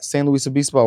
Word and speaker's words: San Luis Obispo: From San Luis Obispo, right? That's how you say it? Yeah. For sure.